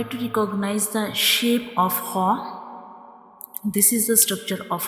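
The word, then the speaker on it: خ: And when we pronounce haw, we read it with a hard sound. The sound fills into the mouth like ho. The sound fills into the mouth when we read ho.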